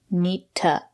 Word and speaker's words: need to: about the pronunciation two is not stressed we pronounce it as ta nitta i need to clean the house she needs